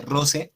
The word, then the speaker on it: rosae: Lo segundo que dice María Consuelo es en la quinta frase, cuando hablamos de rosae o roce, se pronuncia roce a cuando doy agua a la rosa.